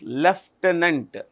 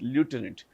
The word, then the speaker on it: lieutenant: But in British English, it's pronounced lieutenant. It's French actually. In American English, it's lieutenant. So I would prefer American English because it lends greater clarity in this case.